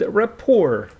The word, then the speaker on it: rapport: sides also helps build rapport rapport means a friendly feeling between two people so helps build rapport build a friendly feel and this T is not pronounced at the end it is called Rapport build rapport friendly feelings